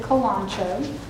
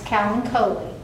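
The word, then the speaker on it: Kalanchoe: who you're talking to a lot of people pronounce it colano it's Callen COI that is the that is the correct pronunciation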